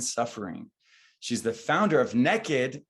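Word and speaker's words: Nekkid: she's the founder of naked n-e-k-k-i-d which is the only way to pronounce naked mecca a home for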